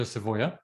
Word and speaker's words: Savoia: So again, Leslie is associated with the person who created this idea or concept, Alberto Savoio. And Leslie, am I saying it correctly? Alberto Savoia, that's fine, but I'll talk about him in a moment, so that's fine.